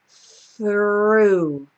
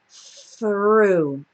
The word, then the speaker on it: through: a preposition and uh it's a little bit strange because we have a silent GH at the end so this whole part o u g is just pronounced o so it's important to